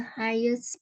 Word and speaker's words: highest: Berarti ini GH-nya nggak dibaca ya? Enggak. Highest, karena I dibaca I.